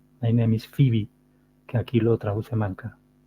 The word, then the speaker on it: Phoebe: phebe my name is phebe habis visto como pronunciado foeb myis fibi que aquí lo traduce manca pues ya veis